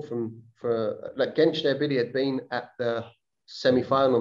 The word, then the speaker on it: Gençlerbirliği: You left St Mirren in 2010 and signed for Turkish side Gençlerbirliği. Is that how you say it? Gençlerbirliği.